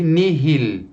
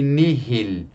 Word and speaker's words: nihil: O H só é pronunciado em 2 palavrinhas. Mihi, para mim, e nihil, nada. Então, mihi e nihil.